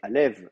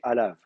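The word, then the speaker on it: עליו: Et en disant qu'effectivement le texte, quand c'est écrit Yod Vav, c'est Alev, évidemment qu'il faudrait le vocaliser, mais que les massorettes, eux, ont une autre tradition de prononciation où c'est Alav, et dans laquelle il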